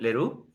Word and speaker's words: Leroux: perfecto tenemos a leru está bien la pronunciación Lero muy bien bien tengo que seguir Aprendiendo la pronunciación en francés bueno es director de